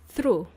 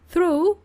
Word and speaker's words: through: Let's look at this word through. Through, which is spelled with 7 letters. T-H-R-O-U-G-H. Yes, we don't even pronounce the G.